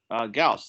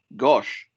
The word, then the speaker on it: Gauss: crusher and he uh kept mispronouncing uh gauss like the whole time he was working on his pieces with me so we were talking about a year he kept saying gosh or something like that um and and